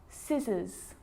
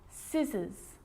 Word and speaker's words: scissors: s like in these very common examples they're quite tricky muscle muscle scissors fascinate scene scenario muscle scissors fascinate seem scenario so that's the silent sea so what about the